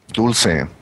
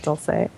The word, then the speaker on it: Dulce: Dulce. Is that it? I've heard it like three different. That's Canadian accent. Okay. That's how does Mexico go? Dulce, like in candy. Yeah, see, that's what I thought. Dulce, yeah.